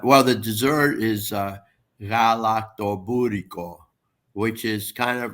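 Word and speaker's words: galaktoboureko: Pronounce that dessert again. Galaktobouriko.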